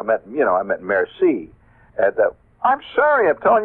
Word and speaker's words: merci: Or I'll say merci. That's pretty good. I just learned last year that the C is pronounced that way. I used to say murky.